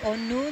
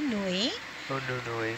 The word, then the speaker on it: Onui: that yeah so um one of the Hawaiian names for the gardener Pinnacles is onui unui that's a bigger one Nui meaning bigger and onui which is